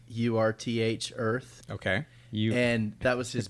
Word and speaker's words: URTH: T-shirt, like a white T-shirt that said URTH Earth, Okay.